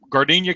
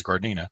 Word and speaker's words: Gardena: Tate is he from gardenia California or Gardena I don't know his garden or gardenia but there's no I in there so I guess is guard Nina he is Andreas it